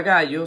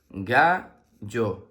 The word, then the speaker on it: gallo: Un gallo, muy bien. La palabra gallo se escribe con G-A que suena ga, doble L-O que suena yo. Gallo, gallo.